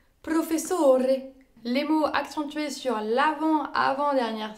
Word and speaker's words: professore: Ensuite, nous avons les mots accentués sur l'avant-dernière syllabe. Ils sont appelés les parole piane et ils correspondent à la majorité des mots en italien. Professore.